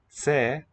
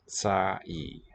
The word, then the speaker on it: τσάι: That shows that it's two syllables, not tse, but tsai. Treat as two syllables there. Ένα τσάι, παρακαλώ.